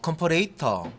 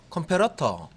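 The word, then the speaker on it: comparator: 뭐 컴퍼레이터 혹은 혹은 컴페러터 뭐 이렇게 뭐 발음하셔도 되고요. 뭐 편한 대로 발음하시면 되겠습니다. 둘 다 뭐 이렇게 쓸 수 있는 발음이고 여기 A, B 두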